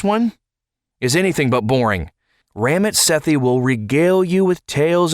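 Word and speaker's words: Ramit Sethi: show he's written by ramit sethy I also heard it pronounced ramit sethy and also ramit Sati so we're going to go with ramit sethy how about that so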